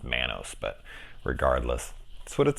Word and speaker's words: Manus: faith in all right head out her name's pronounced Manos but regardless that's what it sounded like so